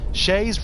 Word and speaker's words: Shays: Shay's Rebellion. Shay's. It's kind of like Lay's, but it's spelled Shay's.